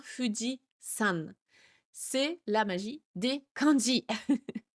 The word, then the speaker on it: Fujisan: Ce qui est vrai hein, le candy de la montagne se prononce Yama et quand il est collé à un nom de montagne comme le Foody et bien c'est sa deuxième lecture sa lecture on qui entre en jeu et donc il se prononce san. Donc Fudi avec le candi de la montagne, ça n'est pas Fudi Yama, c'est bien Fudian.